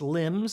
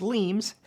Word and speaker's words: limes: The Romans built defensive systems called limes, sometimes pronounced limbs, sometimes pronounced limbs, to stabilize and protect territory.